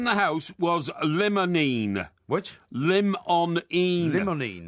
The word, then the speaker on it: limonene: Limonene. Limonene. That's limon with an E-N-E on the end, limonene.